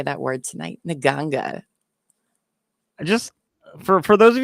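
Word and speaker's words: nganga: you who don't know it's spelled in a way that never should be uh I'm sure it makes more sense in like a different like you know but it's n g a n g a so it's not in ganga is it doesn't it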